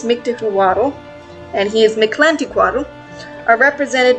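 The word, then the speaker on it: Mictecacihuatl: hutler and her husband mikhla tilaqua quaddle i said her name wrong that entire time it's mythical waddle and his meclantiquado are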